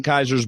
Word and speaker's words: Kaiser: Kaiser.